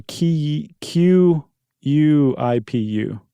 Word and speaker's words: khipu: Is Is it I believe it's pronounced quipu? Yeah. k h i p u Or or q u i p u. Right. Which would also be pronounced quipu.